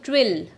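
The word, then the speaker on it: twirl: T-W-I-R-L. Twill. R is silent here.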